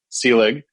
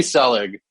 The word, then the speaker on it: Selig: of your podcast wrong you also uh mispronounced my last name but that's not an egregious sin because that is the second most common pronunciation that i get or it's the one i accept after the actual pronunciation which is sealing so just thought i'd